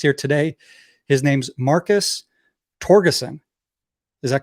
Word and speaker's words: Torgerson: Am I saying it correctly in English? Yes. Awesome, because I think it's Scandinavian. We might get into that. Yes, Torgerson or something like that would be probably closer in the back in the day how